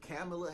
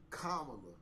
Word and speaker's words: Kamala: now is because if camela Harris oh let my bad comma okay because they was